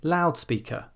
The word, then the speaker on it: loudspeaker: So loud is an adjective, but we don't say loudspeaker, we say loudspeaker. We don't say blackboard, we say blackboard. Loudspeaker, blackboard.